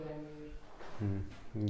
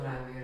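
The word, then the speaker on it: Ranvier: और अच्छा, इन लोगों ने नोड को नोड्स ऑफ रैनवीयर बताया। उसको रैनवीर नहीं, रणवीर बोलते हैं अपन। ठीक है, नोड ऑफ रैनवीर। रणवीर, बस स्पेलिंग थोड़ी सी अलग है।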